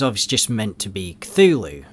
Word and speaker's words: Cthulhu: Now, Katiganor is obviously just meant to be Cthulhu, right? Or Cthulhu, as Lovecraft would say. Apparently that's the correct way to say it. Lovecraft's words, not mine.